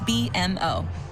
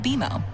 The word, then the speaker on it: BMO: You'll be seeing us around soon, and when you do, I bet you'll call us BMO. Don't worry, it's more common than you think, but we actually pronounce it BMO.